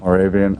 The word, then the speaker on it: Moravian: do you say the college more Mor College Moravian College Moravian College yes Moravian I don't know it's a small school never